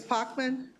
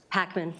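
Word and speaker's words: Pachman: but is it pronounced, it's not Pockman, I it's, respond to anything, Madam Chair. It's Packman. Packman. That's right, and I always want to make it a long A, and it's not a long A.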